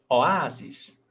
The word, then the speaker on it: oásis: So we've got 3 syllables. O, A, zis. The stressed syllable is the before last, A, and paroxítona ending in ES is acento. Oásis.